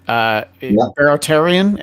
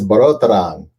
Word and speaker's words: Barotaran: Right, and so and both incarnations of the band, with both names, it's you and Steven, Barotarian, or am I way off on that? It's Barotaran.